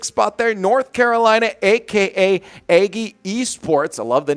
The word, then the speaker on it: Aggie: Aggie I was like it looks like it's spelled Aggie but I know you're saying eggy yeah eggy eggy togy